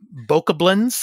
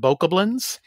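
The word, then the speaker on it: Bokoblin: hyrule's most formidable foes from barbaric uh uh boca blends i think that's how you pronounce it boca blands not goblins but boca blends to towering uh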